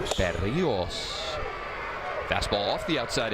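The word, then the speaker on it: Berríos: Acquired by the Twins along with today's starting pitcher for them for Jos Bereios back in 2021. Say it correctly. Bios. Bereos.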